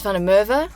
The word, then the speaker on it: van der Merwe: my name is my surname is found a mother I can't speak a word of Afrikaans hence the way that I pronounce it Berber yeah Cape Town